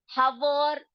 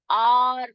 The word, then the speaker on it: hour: हवर नहीं बोलते, हवर्स नहीं बोलते हैं। तो बेटा ये इसमें साइलेंट कौन सा लेटर है? इसमें एच जो है वो साइलेंट है, उसको शांत रखा जाता है, उसको जोर से बोला नहीं जाता, ठीक है?